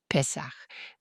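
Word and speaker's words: Pesach: Pessar. D'accord. Bien sûr. En hébreu, il le prononce pest pessa. Ils avalent un peu le fin du mot et s Mais vous entendrez des anglais qui le prononcent Pac.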